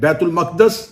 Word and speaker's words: بیت المقدس: چلیں بیت المقدس اس کا اصل تلفظ ہے جس کے تحت اس لفظ کو بولا جا سکتا ہے.